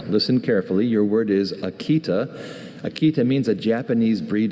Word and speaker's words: Akita: Kiko's Akita was fiercely loyal, following her around everywhere like a silent bodyguard. Can you repeat the pronunciations? Akita.